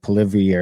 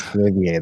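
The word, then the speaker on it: Poilievre: To the point where like our conservative guy that, Polivier every year, I always say it wrong because it's not Polivier. There's like a weird little thing on the end of it.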